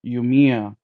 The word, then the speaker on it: Yumia: Uh, Yumia? come I on. can't pronounce that shit, bro. Atelier Yumiya.